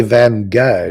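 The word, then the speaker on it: Van Gogh: I I like van you say van go don't you I say van go van that's that's the that's the real pronunciation Kent has something in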